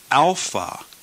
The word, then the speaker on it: alpha: or classroom Greek sounds Alpha is pronounced as ah as in the word father ah Alpha ah beta is